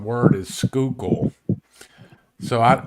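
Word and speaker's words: Schuylkill: crazy spelled word is skookul so I I pretend like I'm trying to say school and then I say skook skookul there you go yep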